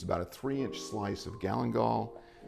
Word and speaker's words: galangal: And then the other is called Galangal. Did I get that right? Galangal? I've heard it called Galangal, but I think the consensus seems to be Galangal.